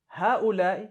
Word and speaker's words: هؤلاء: Now, haulai is how you say these.